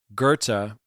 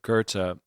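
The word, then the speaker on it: Goethe: And Gerta I believe that's how you say it. spelled like goth but Gerta I I jotted this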